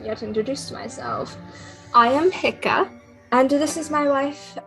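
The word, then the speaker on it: Hikka: i have not yet introduced myself i am hika and this is my wife uh great how do you spell that uh h-i-k-k-a and you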